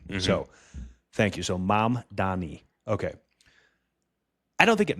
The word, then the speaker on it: Mamdani: So like, hi, Mom. Mom. Don. Don. E. Mamdani. Mamdani. Yeah.